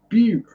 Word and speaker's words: Butte: It's pronounced Butte.